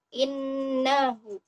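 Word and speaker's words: إِنَّهُ: Cara membacanya adalah dengan didengungkan ya. Innahu, innahu, innahu. Jadi ada penekanan sedikit dengan berdengung. Innahu, innahu. Ditahannya sampai 3 harokat.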